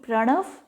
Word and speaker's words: Pranav: The pronunciation Pranav and the spelling is P-R-A-N-A-V, Pranav.